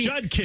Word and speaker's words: Judkins: I swear there were multiple references of Quinshon Judkins being a Jenkins. Oh, it's Judkins. It's really Judkins. You say it exactly how it's written out on that jersey. J-U-D Judd K-I-N-S Kins.